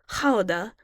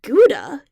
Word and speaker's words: Gouda: shoulder well Leon continued both are right hada is the Dutch pronunciation as that's where it's rumored to be from but Gouda is the English pronunciation therefore if speaking in English it should be addressed as Gouda When in Rome do